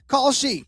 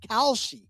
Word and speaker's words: Kalshi: to tell you about Khi. We've just partnered up with Khi, a real money I'm sorry, it's Kelshi. Kalshi. I've been watching the commercial so much I've been mispronouncing it.